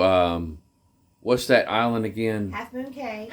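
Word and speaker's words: Half Moon Cay: what's that Island Again Half Moon K Half Moon K Half Moon K some people pronounce it half moon key uh so any rate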